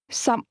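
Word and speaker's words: 十六: 16 16 16 is pronounced with 2 low-level tones.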